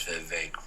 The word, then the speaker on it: Vivek: and he was like, my name is Vivek, rhymes with cake.